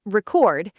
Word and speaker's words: record: Sentence one, record. Stress on the second syllable. So that's the verb form meaning to capture audio or video.